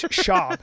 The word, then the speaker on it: Schaub: me he was Venezuelan where's Brenan Schwab from it's shab you have to say his not Brenan shab yeah Brenan sh I